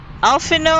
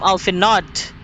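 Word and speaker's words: Alphinaud: Alphino, I used to call him Alphinod because of the D at the end of his name.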